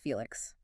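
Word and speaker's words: F+LX: Today we're unpacking the mind of an author who goes by the name F plus LX. That's pronounced Felix.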